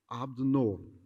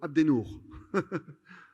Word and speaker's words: Abdennour: My name is, I pronounce it Arabic, Abdennour. In France, I am called Abdennour, and sometimes Abe. But my name is Abdennour.